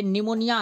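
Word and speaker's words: pneumonia: ये निमोनिया है। ये क्या लिखा हुआ है? निमोनिया। तो ये जो है इसमें पी साइलेंट हो जाता है। निमोनिया में पी साइलेंट हो जाता है। पी निमोनिया।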